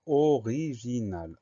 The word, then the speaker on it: original: Troisième syllabe J avec un G et un I. Donc le son J s'écrit avec un G.